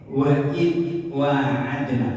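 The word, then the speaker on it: وَاعَدْنَا: Maka pengucapannya wa adna, bukan wa itu salah.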